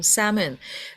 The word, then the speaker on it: salmon: Salmon. Cái âm L ấy, nó bị câm á, Sơn ạ. Nó không có phát âm. Đó, thì đọc là salmon.